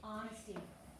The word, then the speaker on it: honesty: the lost wallet honesty honesty notice how honesty is spelled it starts with age but do you even hear that age no it's a silent h honesty okay number three says